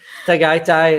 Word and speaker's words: Tagaytay: Tatite. How do you say it again? Tagaytay in Luzon also.